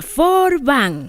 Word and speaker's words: Forbin: misionera Carlos Por fin se pronuncia for van es un apellido francés Acaso no conocen la historia de monseñor Carlos forbán no pues para que